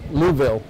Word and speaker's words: Louisville: jug Futurity in Louisville Louisville Kentucky Louisville say it like you have a bunch of rocks in your mouth Louisville and many other